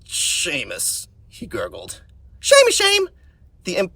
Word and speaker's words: Seamus: Schemus?" "It's pronounced Seamus," he gurgled.